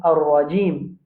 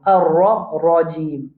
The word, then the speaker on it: الرجيم: a l'habitude de faire, c'est le mot ar-rajim. Ça, ra là, ra quand il y a fatha l'oli ou bien il y a dhamma, nous pouvons prononcer la bouche pleine, la bouche bien ronde.